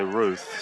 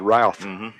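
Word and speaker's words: Routh: Well, it's spelled R-O-U-T-H, but I did ask, and they did say Ruth. So I'm glad you asked. I would have said Ralph.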